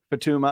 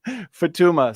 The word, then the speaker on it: Futuyma: evolutionary biologist Douglas Futuyma, however you say that. Futuyma. Don't make the Jensen error. Know how to pronounce his name. Futuyma. Say it.